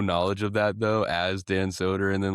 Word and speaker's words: Dan Soder: Dan Soder.